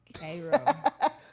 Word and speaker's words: Cairo: And it's spelled like Cairo Egypt. C A I R O but we call it Cro because we country is head. Kro because we cut you is a V man.